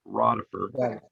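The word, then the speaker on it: Rodeffer: R-O-D-E-F-F-E-R, David Rodifer. That's the way we always pronounce it.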